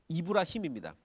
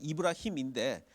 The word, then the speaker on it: 이브라힘: 그 아브라함의 원래 그 코란식 발음은 그 아람어식 발음, 아랍어식 발음은 이브라힘입니다. 그 코란은 아랍어로 기록이 돼 있죠. 이슬람식 발음은 이브라힘인데 한국말 번역에는 그냥 아브라함으로 번역을 한 것 같아요.